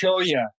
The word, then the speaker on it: cholla: Cocotel or that would be cholla. Cholla, there you go. Cholla, and that's spelled Cholla. So it has a Spanish pronunciation of the double L.